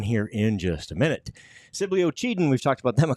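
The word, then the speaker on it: Sibley-Ocheyedan: because we're so impressed we know how to say the name of the town now Sibly was easy it was that oen thing that took a second you got it they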